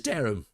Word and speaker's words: Durham: Just like how you pronounce Durham. Yeah. Durham. Durham. It is Durham.